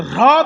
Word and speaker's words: হ্রদ: কিন্তু হ্রদ উচ্চারণটা সবসময় হয় না, হয় রফলা দ, হ্রদ তো। কিন্তু কিছু কিছু লোক ছোটবেলা থেকে রফলা উচ্চারণ করে না বলে আজীবন করতে পারে না।